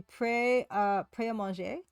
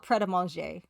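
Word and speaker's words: Pret A Manger: Okay, Gary Ankles, well, en français, it would be prêt à manger. But people call it prêt à manger in Britain. So they pronounce the T, although you're not really supposed to.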